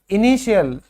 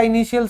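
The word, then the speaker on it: initial: Pronunciation सीखो ध्यान से। फिर है प्रारंभिक। इनिशियल हम कहते हैं ना भाई, इसका इनिशियल स्टेज है।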